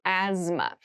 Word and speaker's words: asthma: a th in the middle but we don't say asthma we say asthma so kind of ignore that but try to remember it when you're spelling this word so asthma is a